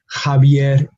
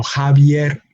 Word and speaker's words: Javier: Mexico, Javier, Jimena. No, and those Javier and Jimena are two names, proper names, sometimes spelled with a J, sometimes spelled with an X, but the pronunciation is Javier. No, Javier, Jimena.